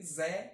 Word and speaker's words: Zé: Ele não consegue dizer Zé Ramalho, é Zé. Coisa deles, né? Acostumados desde sempre a pronunciar o E acentuado, agudo, com um EI.